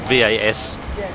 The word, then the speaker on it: Vashon: It's called Fashion Island, but it's with a V. Fashion, and it's not spelled fashion with a V, it's spelled V-A-S-H-O-N.